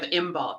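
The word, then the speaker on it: Imbolc: it is the season or the festivity of imul right now um and St bridgid so and that's how you pronounce it if you're wondering so um but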